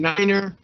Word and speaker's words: niner: like you ate something and niner so that it doesn't get anything else and zero is zero